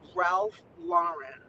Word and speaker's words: Ralph Lauren: I say Ralph treasure Hustlers taught me how to say it the proper way which is Ralph Lauren yeah Ralph Lauren because